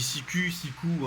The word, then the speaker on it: Siku: Moi, je dis sicu en principe, mais bon, il y a pas mal d'abonnés qui m'ont dit que c'était sicou. Oui, parce Alors, que si tu le prononces à la germaine, oui, Siku.